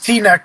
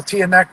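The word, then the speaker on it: Teaneck: did that on purpose I mispronounced T-Neck New Jersey I call tan neck just to mess him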